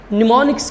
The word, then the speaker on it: mnemonics: सकते हैं जिन्हें हम निमोनिक्स कहते हैं यह से स्टार्ट होता है तो लेकिन एम साइलेंट है यह निमोनिक से निमोनिक्स